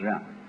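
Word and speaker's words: 仁: I don't know what they are but it's pronounced R and it's a character Chinese character that confus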